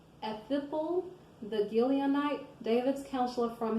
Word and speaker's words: Ahithophel: Then Absalom sent for Ahithophel, I'm sorry I said it wrong, Ahithophel the Gileonite, David's counselor from his city, namely